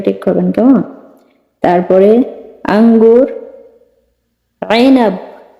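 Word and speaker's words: عنب: তারপরে আঙ্গুর আইনাব। আইনাব আঙ্গুর, হারফেল আইন উচ্চারণ হবে, ঠিক আছে?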